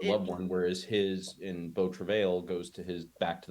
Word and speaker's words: Beau Travail: Also, incidentally, until I watched an interview earlier today, I was also saying Beau Travail. Apparently, it is Beau Travail, Beau Travail, okay. which is the French pronunciation, I guess.